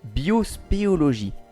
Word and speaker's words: biospéologie: vous introduire au mot biospéologie alors je n'ai pas oublié une syllabe et on n'est pas revenu au début de la vidéo la biospéologie se distingue